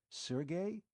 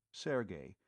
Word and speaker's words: Sergey: Sergey? You mean Sergey Povich? The fiend of Florence? She pronounced the name properly, Sergey, instead of Serge, as too many people were prone to do.